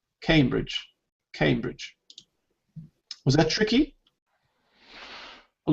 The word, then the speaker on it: Cambridge: Because it's got A rather than A. Cambridge. You think it's Cambridge? It's Cambridge. There's no E. Why do we say came?